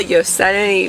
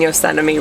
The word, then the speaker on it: Yosemite: We are in beautiful Yosemite Valley and Am I saying it wrong again? I it sounded weird. Okay, Alex keeps saying I'm saying Yosemite wrong. Maybe you did it again wrong. Okay. Yosemite? Yosemite.